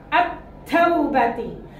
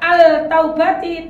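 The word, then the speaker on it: التوبة: berikutnya contohnya ta misalnya Al yang bertemu ta attaubati Bukan dibaca Al taubati tapi langsung dilebur al-nya baru langsung masuk ke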